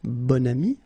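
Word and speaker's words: bon ami: adjective okay and then you pronounce it bonami when you make this link second example bam so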